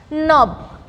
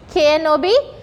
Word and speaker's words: knob: Knob. K-N-O-B. Knob. So the word K is getting silent here.